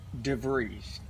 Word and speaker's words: DeVries: The S is pronounced like a Z at the end. Mm-hmm. So it rhymes with freeze.